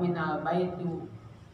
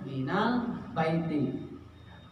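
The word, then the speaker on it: من البيتِ: Kenapa enggak minal baitu? Kenapa enggak minal baita? Kenapa minal baiti bacanya? Karena ada huruf jar. Jadi huruf jar itu fungsinya untuk mengasrohkan akhir harokatnya. Jadi bacanya minal baiti.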